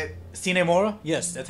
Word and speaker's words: Sine Mora: grasshopper is that even how you say it sinemora yes that's how you say it oh is